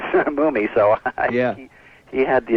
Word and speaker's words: Mumy: No, well, I mean, according to my dad, it was always Mumy, so Yeah.